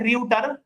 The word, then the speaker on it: Reuters: देखो उसको लिखते हैं Reuter, but pronounce करते हैं ऐसे Reuter. This is the pronunciation Reuter, but it is written as Reuter, ठीक है? But pronounced as Reuter, ठीक है?